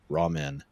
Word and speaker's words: ramen: RAWMEN or RAMEN. It could go either way with anime. Yeah, I'm pretty sure it's ramen, like the noodle, which is funny because it's actually lo mein from China that they mispronounced.